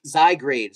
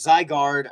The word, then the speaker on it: Zygarde: So, there has been word on the streets, the Poke Streets, uh there's been word out there, guys, that the Zygrade, Zygarde, I never say it right, don't worry.